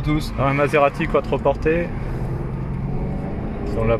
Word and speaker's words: Quattroporte: Un Maserati quattroporté. Si on la prononce à l'italienne.